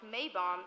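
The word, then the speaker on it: Maibaum: Fest Sophie schnare okay the mapole in German pronounced May bomb is a Heritage event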